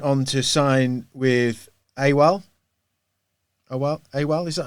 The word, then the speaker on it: AWAL: AWAL, is that how you say it?